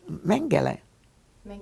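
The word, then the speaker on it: Mengele: as uh Joseph Mage I believe you pronounced his name well that was uh mang mang is how you pronounced it what information did you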